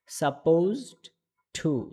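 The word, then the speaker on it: supposed to: ওকে সবাই পারবেন তাহলে ইনশআল্লাহ তৃতীয় নাম্বার শব্দের উচ্চারণটা সাপোজড টু সাপোজড টু ওকে তাহলে আমরা বুঝলাম এটার উচ্চারণ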